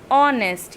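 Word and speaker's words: honest: ऑनेस्ट, यहाँ पर एच जो है साइलेंट है, सो हम ओ साउंड को लेंगे, सो एन ऑनेस्ट बॉय.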